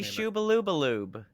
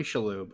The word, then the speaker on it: Shalhoub: Tony Shubaloobaloob from The Monk. Let's even pronounce his name correctly. In fourth place, Tony Shalhoub.